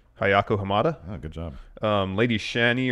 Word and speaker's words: Ayako Hamada: And according to Pro Wrestling Insider, during Good the job match, on the pronunciation of what did you just say? Hayako Hamada, Oh, good job.